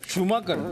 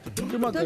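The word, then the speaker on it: Schubhanker: आपल्या म्हणजे बघा ना काय स्पेलिंग आहे एस सी एच यु बी एच ए एन के इ आर शुभंकर शुभंकर असं वाटतंय मला तरी शुभंकर आहे शुभंकर हे स्पेलिंग आहे शुभंकरच हो म्हणजे आतापर्यंत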